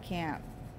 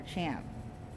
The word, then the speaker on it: champ: beef and cabbage and camp or champ whatever however you want to pronounce that because it it's spelled like champ but you can say it camp with the h being silent in the united states